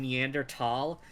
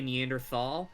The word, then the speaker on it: Neanderthal: the okay the the technically the correct pronunciation neander tall uh most people say Neanderthal um I've watched enough documentaries that T has gotten stuck in my head even though I